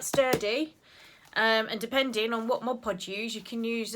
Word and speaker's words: Mod Podge: And depending on what Mod Podge you use, you can use. I said it right that time, didn't I? Mod Podge.